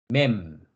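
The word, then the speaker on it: מם: 라메 라메 라메드 어 쌍 리얼입니다 영어로는 L 발음을 가지고 있습니다 그다음 글자는 물이라는 의미를 가지고 있는 맵이라고 합니다 맴 맴 음 미음이 그요 그다음 글자는 물고기 시라는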